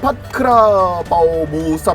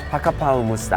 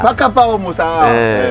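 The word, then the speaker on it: ผัดกะเพราหมูสับ: 내가 알고 있는 그 파크라바오 무사 정확히 파카파오 무사 파카파오 무사 본토 발음으로 하자면요? 파카파오 무사!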